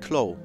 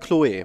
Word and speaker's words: Chloe: Yeah, and I guess it's pronounced Chloe because it's a French game.